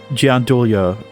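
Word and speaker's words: gianduia: She didn't pronounce the J. So, yeah, it's more of a Gandia.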